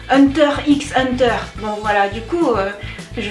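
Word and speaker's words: Hunter × Hunter: que vous vous dites c'est quoi hanta hanta en français vous devez prononcer Hunter x Hunter bon voilà du coup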